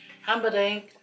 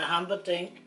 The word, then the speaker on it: Humperdinck: He will be him, Humperdinck, John Rolls, Tom Jones.